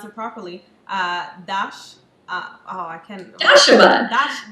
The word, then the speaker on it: Dashama: I want to pronounce it properly. I can't. Dashama. Dashama.